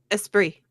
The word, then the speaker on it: Esprit: How do you say the last bit, Blue? Esprit. Esprit. Is that French? Yes.